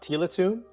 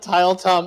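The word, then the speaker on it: Tiletum: Is that how it's pronounced? Tila Tomb? I believe so, yes. Tila Tomb. I always call it Tile Tom. I have no idea how to pronounce it.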